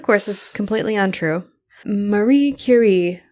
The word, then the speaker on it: Curie: Marie Curie, which is the only way you should ever pronounce her name. I mean, that's the way her name deserves to be she's pronounced. French, right? You got to say it like that.